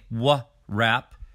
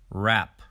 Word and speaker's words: wrap: with silent letter w when the consonants wr are together the w becomes silent we do not say wha rap we say rap rap wrap wreath wreath